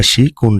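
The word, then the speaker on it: 色: এটা অনের উচ্চারণ হচ্ছে শোকু বা শিকি, আর কুনের উচ্চারণ হচ্ছে ইরো।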